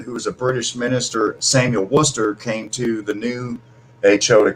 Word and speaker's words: Worcester: War Chester yeah but pronounced Worcester like Worcester Massachusetts yeah just like Worcester Mass but it's like the WR w o r c e s anyway Samuel Worcester and um he he